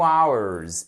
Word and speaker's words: hours: I've been talking with you for 2 hours. Et là, hours, on ne met pas le H. Le H ne se prononce pas. On le met à l'écrit, mais on ne le prononce pas.